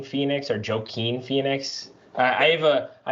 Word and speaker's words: Joaquin: ledger i'm not gonna and then and then joaquin joaquin phoenix was pretty badass though i i like what people say joe quine phoenix or joaquin phoenix i have a i have a cousin